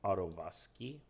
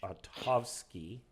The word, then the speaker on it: Otovsky: I keep calling him Ottovsky, and it's not. It's Otovsky, and that's a big deal.